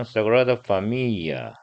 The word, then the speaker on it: Sagrada Familia: Familia를 우리 영어식으로 하면 발음이 좀 돼야 되는데, 스페인어로 할 때는 그냥 Sagrada Familia 이렇게 되더라고요. L 발음이 잘안 들리던데요.